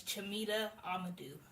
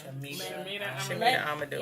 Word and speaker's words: Chamita Amadou: It's Chamita Amadou. I didn't want to Shamita Amadou.